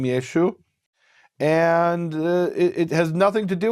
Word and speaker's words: Yeshua: They didn't pronounce the ayin, so Yeshua became Yeshu. And it has nothing to do with what the rabbis say.